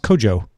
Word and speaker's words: Kojo: well apparently it's pronounced Kojo like saying Joe Joe twice but with a K yeah jump yes Joe